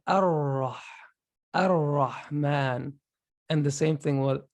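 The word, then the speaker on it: الرحمن: We say Ar-Rahman.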